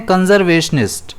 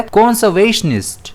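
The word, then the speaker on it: conservationist: अब हम गलती क्या करते हैं? इसे हम बोलते हैं कंजर्वेशनिस्ट। लेकिन यह बोला जाता है कंसर्वेशनिस्ट।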